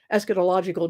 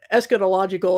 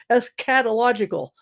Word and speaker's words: eschatological: because some people say es catological they really lean on the cat syllable and and they'll say